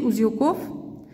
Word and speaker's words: узелков: Девять узелков. Ударение падает на букву О.